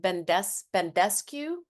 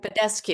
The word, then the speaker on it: Badescu: And how do you pronounce this? Mario Bendescu? Yep. Badescu.